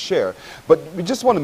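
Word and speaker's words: Csheir: And you've also incorporated a recipe book as well, which is called Share, C-S-H-E-I-R, pronounced Share.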